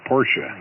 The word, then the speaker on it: Porsche: a uh a Porsche actually pronounce it Porsche so uh yeah I